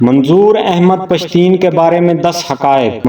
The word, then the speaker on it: پشتین: سے DVM کیا تھا۔ منظور احمد خود کو پشتین کہتے ہیں، جو کہ پشتون کا تلفظ ہے۔ اس لفظ کا مطلب